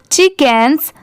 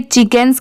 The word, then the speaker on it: chickens: अब जैसे देखिए, अगर आपको ये चिकन्स की स्पेलिंग याद रखनी है तो CHI क्या होता है? ची। ठीक है, और यहाँ पर जो लेटर C है ये साइलेंट है।